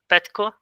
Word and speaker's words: Petko: Okay, Petko, is it right, the pronunciation? Petko?